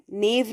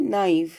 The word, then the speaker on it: naive: नाइव, नेव नहीं, नाइव, NAIVE, नाइव।